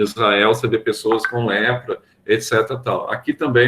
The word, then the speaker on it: leprae: Na antiga nação de Israel, você vê pessoas com lepra, etc. Tal. Aqui também é um micobacterium, tá? Só que aqui é Mycobacterium leprae. A gente escreve leprae, só que latim se pronuncia só a segunda vogal, isso a gente já sabe há muito tempo.